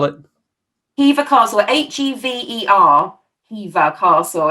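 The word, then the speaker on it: Hever: neither cows awesome awesome name a favorite place heaver castle down in kent near me gorgeous eve spell it eva castle h-e-v-e-r eva castle it's uh you've heard of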